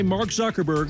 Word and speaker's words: Mark Zuckerberg: his Harvard dorm a nervous and camera shy Mark Zuckerberg sorry I started that away Mark can you just say your name and pronounce it so Nobody messes it up and